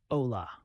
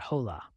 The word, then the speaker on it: hola: to last syllable and remembering the silent h let's practice hola is pronounced Ola not hola simple right diving into